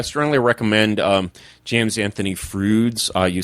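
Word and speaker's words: Froude: Um James Anthony Frouds. Uh you say it the way uh uh Bill and Ted pronounce fruit and uh but it's actually spelled F R O U D E.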